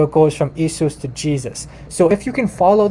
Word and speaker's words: Jesus: it turn into German so in German though the the the J is actually a y so Jesus okay in German this is how you pronounce it Jesus uh well maybe not an identical pronunciation but I'm trying uh so so you have like that the why and it's it's it's a y sound and then in English